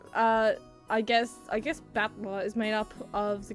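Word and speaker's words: Battler: Is uh I guess I guess Batla is made up of the characters for fight and person. It's pronounced batler.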